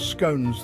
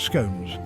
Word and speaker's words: scones: just make sure you pronounce scones the right way or you'll be exiled it's scon actually no it's not it's scones scon anyway if you're into history